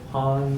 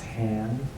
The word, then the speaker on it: Han: could be HP's for han Solo han Solo fly's eye speed spacious now in the movies sometimes his friends mispronounce his name as hand I is for ig-88